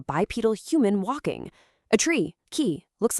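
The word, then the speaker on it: 木: For example, the kanji for a person, pronounced hito, is actually meant to look like a bipedal human walking. A tree, ki, looks like a tree with roots.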